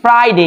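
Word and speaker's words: Friday: এবার হচ্ছে এটা হচ্ছে ফ্রাইডে এই এফ এর উচ্চারণ আমরা অনেকে পারি না অনেকে ভুল করি উপরে দাঁত নিচে ঠোঁটে আসবে ফ্রাইডে ফ্রাইডে ফ্রাইডে যারা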